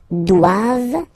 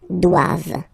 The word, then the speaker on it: doivent: And then the last one, ils doivent. So same thing, classic ending for the plural form, E-N-T here. Okay, but then you don't pronounce it. Doivent, doivent, elles doivent.